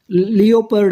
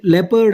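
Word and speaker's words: leopard: look ಅಂದ್ರೆ ಅಗೌರವದಿಂದ ನೋಡು ಲಿಯೋಪರ್ಡ್ ಅಂತ ಅನ್ನಬಾರದು ನೋಡಿ ಇಲ್ಲಿ ಲೆಪರ್ಡ್ ಅಂತ ಉಚ್ಚಾರ ಮಾಡಬೇಕು ಇದು ಲೆಪರ್ಡ್ ಅಂದ್ರೆ ಚಿರತೆ ಮಂಬಲ್ ಅಂದ್ರೆ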